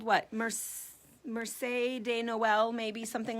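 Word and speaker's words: Marché de Noël: Marche de Noel, maybe, something like that. It's spelled Marches de Noel if you want to be, really American and butcher it. Marches de Noel.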